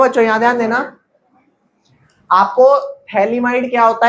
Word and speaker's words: phthalimide: इसको थैलीमाइड बोलते हैं। थैलीमाइड का pH साइलेंट होता है। क्या होता है? pH। तो थैलीमाइड नहीं बोलते, क्या बोलते हैं? सिर्फ थैलीमाइड।